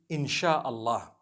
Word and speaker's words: insha Allah: as when people read it they read it insha Allah because a transliteration means nothing it just it